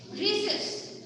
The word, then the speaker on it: rhesus: रीसस की spelling होती है RHESUS, रीसस।